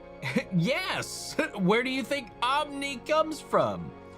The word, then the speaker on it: Omn1: The one your name is pronounced as a I. Yes. Yes. Where do you think Omni comes from?